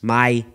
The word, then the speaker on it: madre: The word madre, meaning mother, becomes mai.